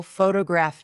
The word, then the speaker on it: photograph: For example, photograph noun is stressed on the first syllable. Photographic adjective is stressed on the third.